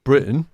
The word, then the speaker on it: Britton: Yes, mispronounced there. Britannia. Obviously, it should be Britton.